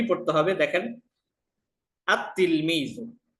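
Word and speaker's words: التلميذ: আলিফ লাম আসে তাহলে আমরা লামটা উচ্চারণ করতে পারবো না দেখেন উদাহরণ তিলমিজুন এই যে তা তিলমিজুন তিলমিজুনের শুরু যদি আমরা আলিফ লাম যুক্ত করি তাহলে আমাদের কি পড়তে হবে দেখেন আত তিলমিজুন আল তিলমিজু বলতে পারবো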